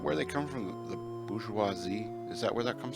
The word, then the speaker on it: bourgeois: In French, the last letter is never pronounced. So, bourgeois.